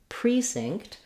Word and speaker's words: precinct: vowel is reduced then lastly we can also have the stress on the first syllable in these types of Words which we have in the word Precinct the pre-estressed it has letter